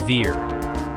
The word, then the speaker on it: VAR: For remembering Ohm's law, think of the word VAR, pronounced like veer.